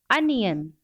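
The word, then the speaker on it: onion: वैसे उसका correct pronunciation होता है अनियन।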